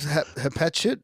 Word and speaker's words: Hatshepsut: So you, so you love Hatshepsut?